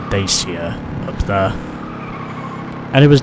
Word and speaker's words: Dacia: But yeah, I'm pretty sure that was a Dacia board I saw there. Even then, if some people pronounce it as Dacia, but I think Dacia is just much easier to say.